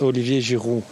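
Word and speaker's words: Olivier Giroud: I need education well in French is Olivier jiru he K Kate you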